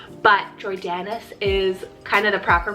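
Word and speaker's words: Jordanes: so j-o-r-d-a-n-e-s jordanis or this one you could pronounce it as like jordan's but jordanis is kind of the proper pronunciation there it's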